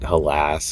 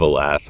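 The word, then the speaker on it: Hélas: Yeah, people pronounce it halas or helis or whatever, but it's alas. It's the anacronistic spelling of of alas.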